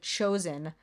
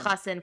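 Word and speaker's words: חתן: I'm pretty sure she said chosen, like for Oh, chassan. instead of chassan, for sure. Yeah. I read this and listened to the audiobook, so you're right. She said chosen instead of chassan for groom, and the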